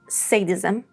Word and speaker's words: sadism: In sadism and sadist, we have this a sound. Sad sound. However, in sadistic and sadistically, we have s with a schwa sound.